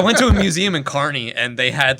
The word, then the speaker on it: Kearney: of something okay you there's a museum in Kearney I was for Kearney in history and um